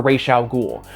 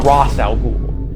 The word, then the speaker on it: Ra's al Ghul: back, I just can't bring myself to make the switch over to Raysh al Ghul. I'm going to keep on saying Razz in my videos, and there is not a goddamn thing you can do to stop me. Just be glad I'm not saying Razz al Ghul.